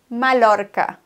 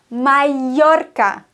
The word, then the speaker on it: Mallorca: Viele sagen Mallorca, wenn sie das R rollen können. Mallorca. Das ist falsch, denn Doppel-L wird im Spanischen wie ein J ausgesprochen. Mallorca.